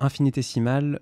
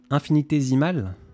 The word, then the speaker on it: infinitésimale: un grand fan dans infinitésimale le s se prononcent z c'est vrai infinitésimale eh ben tu m'apprends